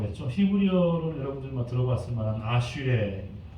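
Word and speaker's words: אשרי: 히브리어로는 여러분들 들어봤을 만한 아슈레, 에세르라고도 발음될 수 있는데 아슈레.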